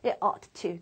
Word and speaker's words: ought to: 굳이 가끔 본다면 ought to, two syllables. 2박자고요. should 한 박자라 노래 가사 같은 데서 어떤 박자를 낮추거나 말의 의문 때문에 ought-를 쓰는 경우는 좀 보일 겁니다.